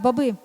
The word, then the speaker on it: баби: ти зробиш ану покажи так баби з наголосом на другий склад у натоп врізався водій